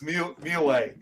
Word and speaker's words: Mulae: It's actually pronounced as Mulae.